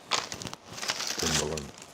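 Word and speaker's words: Mpumalanga: Do you pronounce the M or is it just Pumalanga? Pumalanga.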